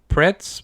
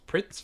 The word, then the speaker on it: Pretz: all right all right i really like pretz but in japanese it's pronounced pritz for some reason what pretzels you know